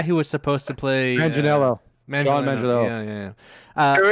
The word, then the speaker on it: Manganiello: John Mangliano.